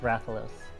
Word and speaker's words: Rathalos: i not climbing this game sucks bye it's pronounced rathalos okay got pinned between a cliff and a rathalos and oh my god it's all mad meanwhile